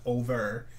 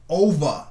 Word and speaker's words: ovah: i said it wrong it's not over like ova and oba that's right you have